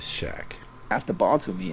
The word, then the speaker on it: Shaq: But his name is not Shark, it is Shaq.